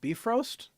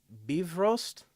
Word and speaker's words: Bifrost: well, so it's actually Bifrost. So as though it were Bivroast, Bifrost.